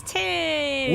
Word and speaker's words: Ting: It rhymes with ding. The dingus. Ting? It's Ting!